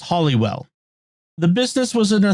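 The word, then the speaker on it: Holywell: resurrected Saint and many miraculous healings although it's pronounced hollywell the business was in a three-story 18th century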